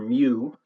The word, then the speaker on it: mu: It's kind of a combination of an M and a U, and it's called a mu, which is spelled MU.